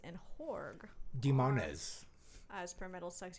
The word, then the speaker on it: Horgh: Horgh. Demonaz. Abbath. That's very good pronunciation.